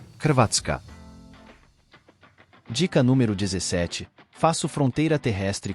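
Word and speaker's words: Hrvatska: 1995 dica número 16 na minha língua o meu nome se soletra sim h r v a t s k a e se pronuncia assim katka dica número 17 faço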